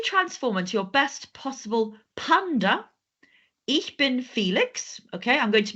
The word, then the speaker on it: Panda: to English but sometimes the pronunciation is a little bit different like we don't say panda we say panda we don't say elephant we say elephant we don't say giraffe we say giraff so just always remember